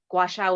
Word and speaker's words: gua sha: I said it wrong. How do I say that one? Yeah, no, you said it right. Gua I didn't? sha. Oh, gua sha.